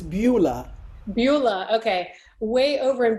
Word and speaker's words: Beulah: authored it's way over in how do you pronounce it oh that's misspelled it's beulah beulah okay way over in beulah land and